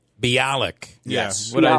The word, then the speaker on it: Bialik: But I think her name is Bialik. Bialik. Yes. What I say? Yes, it is. I think you butchered it.